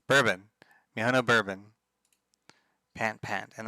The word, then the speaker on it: Bourbon: Borbin. That's not how it's pronounced. Bourbon.